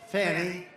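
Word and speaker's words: Fani: after another you had fonnie f a n i which is usually pronounced Fanny she added a little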